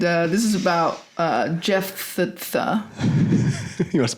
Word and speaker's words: Jephthah: And um and uh this is about uh Jeff Tha. You want to spell it for him?